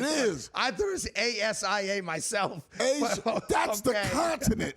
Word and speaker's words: Aja: Asia. It's not spelled like Asia.